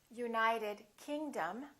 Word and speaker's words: United Kingdom: for example South America we say South America United Kingdom we say say United Kingdom let's practice a